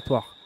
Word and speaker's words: Tours: J'ai dit Tours. Ah, ça me paraît bizarre, j'ai dit ça. Ok. Oui, c'est bien sûr, c'est Tours. Merci Anne-Hélène Le Guen. J'ai fait une erreur dans mon prononciation.